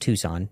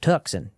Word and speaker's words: Tucson: Yes, it's pronounced Tucson, not Tuxen, despite the accent you might hear there.